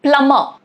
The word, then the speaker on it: plumber: All of these examples, as you can see, letter B is silent. Okay? Because it is coming either before T or it is coming after the letter M.